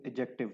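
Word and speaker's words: adjective: नहीं होता याद रखिएगा दिस इ एडजेक्टिव डी हमेशा साइलेंट होता है इसकी जो प्रोनंसिएशन है वो एडजेक्टिव है डी को नहीं बोलते तो नाउन प्रोनाउन वर्ब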